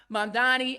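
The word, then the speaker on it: Mamdani: M A M D A N I. You should learn how to say it, right? Zoharan Mandani in New York City.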